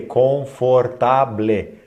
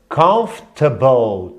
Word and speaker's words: comfortable: Como aqui, por exemplo, né, as pessoas olham e lê confortable. Não. A pronúncia é comfortable, table, table, table. Comfort, olha lá, como se fosse uma coisa só.